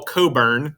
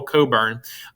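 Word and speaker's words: Cockburn: burning of washington dc admiral coburn that's how you say his name admiral coburn americans quite frequently made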